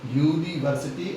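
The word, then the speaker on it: university: लेकिन चूंकि पहले इसका उच्चारण यूनिवर्सिटी है, यूनिवर्सिटी मतलब इसमें आ रहा है या, यूनिवर्सिटी मतलब इसमें आ रहा है या, इसलिए इसके साथ क्या लगाया जाएगा, ए लगाया जाएगा।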